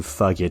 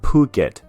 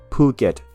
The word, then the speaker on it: Phuket: take a look ah it's phuket p s u is poo and k e t is get phuket not you know it when you see ish following kp and t in thai language it usually means those letters are aspirated in this case phuket